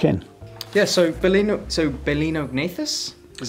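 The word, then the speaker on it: Balaenognathus: and get stuck in yeah so Berlin so bolinao agnathus is how you pronounce it yeah the the baleen is from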